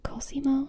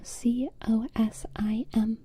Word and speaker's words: Cosimo: And Cosimo is actually a name that I kind of want to verify my pronunciation of. Cosimo, C-O-S-I-M-O.